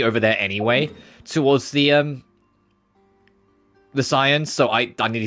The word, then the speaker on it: Scions: I nearly said Scions. That's going to be a hard habit for me to break. I will do everything in my power to say it properly and say Scions and not Scions.